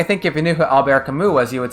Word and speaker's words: Camus: don't know any like if you don't know that's a French name right I mean it's very likely that you would just say Camas that's what we say Albert Camus Camus yeah I mean yeah